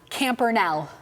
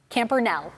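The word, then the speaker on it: Campernelle: Campernell. N. Yes. Ooh. E. Yes. L. Yes. L. Yes. Okay, final answer? Final answer. You are missing one E. Is there a silent E at the end?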